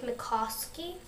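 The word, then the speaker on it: Mycoskie: I got start Something That Matters by Blake MOSI that's how you you say his name and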